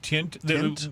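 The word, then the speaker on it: Tynt: Uh they settled in on a poor cottage on uh T Y N T Yeah, Tint. We're calling it as Tint.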